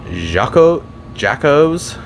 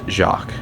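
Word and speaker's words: Jacques: it's Jac it's pronounced jacqu because the boss in this level is a Jack In The Box and it is a pun on that this level is pretty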